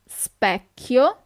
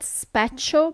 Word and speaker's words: specchio: Lo specchio. So not specchio, but specchio.